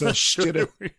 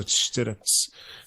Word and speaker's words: Štilec: Yeah, it's Štilec. It's the S with the whatever that thing is with called. The accent over, and the C is so Štilec.